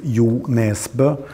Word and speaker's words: Jo Nesbø: different variations well i i accept any attempt at my name in in uh norwegian it's you nesba but when i go